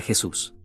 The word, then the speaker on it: Jesús: es un nombre mexicano solo dices la J como H como con mi nombre